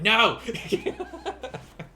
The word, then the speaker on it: yen: real number got it no uh jay cooper yes yen is the currency uh however they in japan uh japanese they will pronounce it as n and that over there